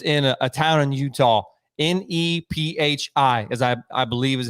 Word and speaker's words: Nephi: I specifically asked because I just want to hear you pronounce it, but it's actually Nephi.